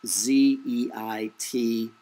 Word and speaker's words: Zeitgeist: I don't pronounce it. It's German. It's Zeitgeist.